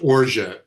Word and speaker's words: orgeat: It's pronounced orgeat. It's spelled O-R-G-E-A-T, like orgeat or something. It's pronounced orgeat, just so you know.